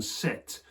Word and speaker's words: sept: it's in the portuguese there's something curious about the french word four seven set which is that they spell it with a p now that is uh